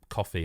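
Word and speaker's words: Ko-fi: like buy us a coffee. I mean it's Kofi is spelled but you know coffee and you can just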